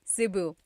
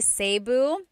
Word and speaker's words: Cebu: So, I say Cu. Cebu. And I know some people say Sabu, but usually it's either Cu or Sebu.